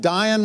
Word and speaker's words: Dyan: of hurts you had Dyan rhymes with lion and Dr Hanah Hanka